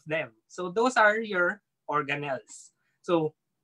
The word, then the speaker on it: organelle: organelle so the word organelle may be familiar to some of you so it sounds like the word organ right okay so it's organ with a little bit at the end so organelle it just means organ-like